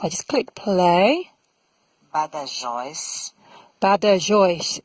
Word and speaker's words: Badajoz: Badajoz. So that's how we pronounce it. The Spaniards pronounce it in a different way. Let's just have a listen to that. Badajoz. Very different.